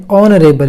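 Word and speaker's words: honorable: फिर दूसरा एग्जांपल है ऑनरेबल यहां भी हा साइलेंट है और उच्चारण शुरू होता है ओ से ऑनरेबल ऑन रिबेल परसों ठीक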